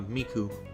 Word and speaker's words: Miku: likewise anchan you're so nice how do you pronounce Miku uh Miku hey can you teach me how to be